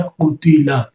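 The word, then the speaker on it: قُتِلَ: حرکتیں بھی علیحدہ، یعنی قاف کے اوپر پیش، تا کے نیچے زیر، لام کے اوپر زبر، تینوں کے اوپر زبر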